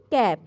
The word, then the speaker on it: calf: CALF ক্যাপ। এখানে কিন্তু এলের উচ্চারণটা উজ্জ্ব থাকে। CALF ক্যাপ, অর্থাৎ এলের উচ্চারণটা হয় না।